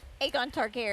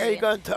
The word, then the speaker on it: Aegon Targaryen: Aegon Targaryen. Aegon Targaryen.